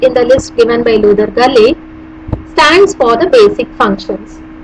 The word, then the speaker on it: Luther Gulick: Now, there is an economist by name Luther Gulick. Pronounce it Luther Gulick.